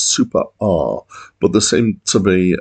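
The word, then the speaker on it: Super Æ: by boredoms um and I uh understand that the pronunciation of the title is super R but the same to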